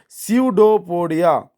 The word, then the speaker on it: pseudopodia: See here, P will be silent, so your pronunciation will be pseudopodia, or false feet, or sensing food to engulf the food particles and push it inside the body.